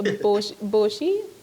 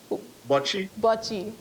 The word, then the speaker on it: bocce: All of these games I'm seeing that you guys participate in, if I'm pronouncing it incorrectly, please correct me, is a boshi? Bocce, Bocce.